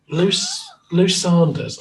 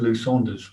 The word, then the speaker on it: Lou Sanders: How do you pronounce Lou Sanders? Is it Sanders or Saunders? Right. Okay. Well, Lou Sanders.